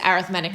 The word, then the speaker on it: arithmetic: say it so when you're talking about it as an adjective it is arithmetic sequence that was always something that everybody used to always say when we were back in class that I was saying it wrong but I'm not alright